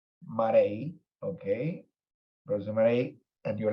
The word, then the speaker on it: Marije: Now, Marije, how's it pronounced? Marije. Marije, okay.